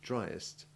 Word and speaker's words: driest: comparative and superlative forms have the distinct vowel sounds drier and driest the e in dryer having the short e2 iv sound but that of driest usually having short e3 listen again drier driest